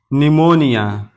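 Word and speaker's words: pneumonia: अगर पी के बाद एन या एस में से कोई एक हर्फ हो तो पी हमेशा साइलेंट रहता है। पी के बाद एन हो या पी के बाद एस हो तो उस वक्त पी को नहीं पढ़ा जाएगा।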